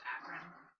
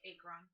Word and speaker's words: Akron: smiggle it's still funny to me that it's pronounced akron as opposed to acron okay just because like i spent a long